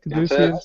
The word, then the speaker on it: Caduceus: I honestly think that when they made the Caduceus, that's how you say it, right? Caduceus? Yep, you got it.